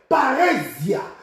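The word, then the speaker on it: παρρησία: Bien-aimé, le mot assurance ici, c'est la traduction du mot grec parésia. Parésia qui est traduit ici par assurance. Parésia. Parésia s'écrit P-A-R-R-H-E-S-I-A.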